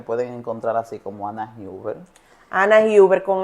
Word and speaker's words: Huber: encontrar así como Ana Huber. Ana Huber con h. Usted es como si usted va a escribir Uber, pero con hub que así mismo se pronuncia que es Uber.